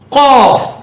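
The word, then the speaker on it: ق: காஃப், காஃப். தொண்டையில் வரக்கூடியது காஃப். இது வராக்கிட்டு என்ன செய்யணும்?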